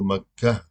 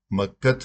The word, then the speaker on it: مکہ: گے، سکوت کریں گے، تو مکہ، مکت نہیں کہیں گے، مکہ کہیں گے۔ یا اسی طرح مثلا